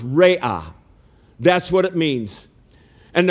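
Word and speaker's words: Raah: one is jehovah raya r-a-a-h but it's pronounced ray-ah that's what it means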